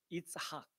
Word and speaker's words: 이삭: 이삭. 예, 이삭인데, 우리는 이삭이라고 발음하지만 히브리어 원어 발음은 뭘까요? 이삭. 이삭. 이삭.